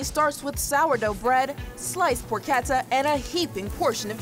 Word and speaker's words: porchetta: What is porchetta? I'm asking for a friend. So it's pronounced porchetta.